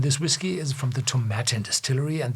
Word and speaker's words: Tomatin: whiskey is from The tomatan Distillery and this is pronounced as satin I was learn teached at The Distillery in Scotland and tomatin belonged to the biggest